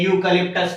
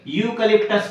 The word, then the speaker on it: eucalyptus: a union leader a eucalyptus tree for example a eucalyptus tree eucalyptus eucalyptus tree here the letter is o letter e but it gives the pronunciation of y a eucalyptus tree next